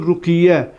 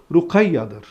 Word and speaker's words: Rukayya: Bu Rukayya ismi bizde Türkiye'de maalesef yanlış şekilde telaffuz edilmiştir. Rukiye diye ifade edilmiş. Rukiye değildir. Rukayya'dır.